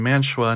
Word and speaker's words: Mantua: as it turns out, they were founded in Mantua, New Jersey, and took the name of their town as the company name, so that is the correct pronunciation.